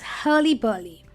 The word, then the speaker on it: hurly-burly: All right, then, let's get to our last fun English word, which is hurly-burly. Now, this word is pronounced as Hurly-burly and not Hurly-burly, even though you see an R in those words.